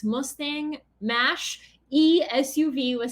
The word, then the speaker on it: Mach: Is it Mach or is it Mosh, like machine?